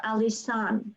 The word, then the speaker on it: Alissan: It's spelled quite uniquely. It's ALISSAN. So Alison. Alison.